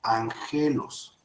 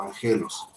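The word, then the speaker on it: ἄγγελος: dar a ver repetimos dice una gama antes de otra se pronuncia como me o sea n entonces de ser ajenos se tiene que convertir o se pronuncia como ángel os al pronunciar la palabra art recuerdo que el mensaje o entonces ahí sería ángel o ángel os recuerdo esa es la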